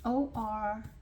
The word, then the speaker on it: orecchiette: We're going to have meatballs, beef meatballs with Orechiette, kale, and pine nuts. It's Orecchiette. I couldn't pronounce French.